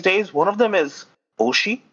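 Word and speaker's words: 推し: youtubing streaming these days one of them is Oshi it's spelled as OS Shi it basically just means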